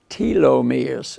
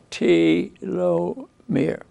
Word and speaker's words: telomere: is all about how so how does this pronounced telomeres I mean his spells are just like my